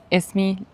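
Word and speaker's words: ismi: 'Ism' with an 'i.' With the 'i.' You're saying it correctly; I'm just showing you that the base word is 'ism.' Esmi. Luca. That's 'name.'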